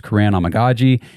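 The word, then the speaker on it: Kiran Amegadjie: I'm pretty sure it's Karan Amagaji, and the tackle out of Yale.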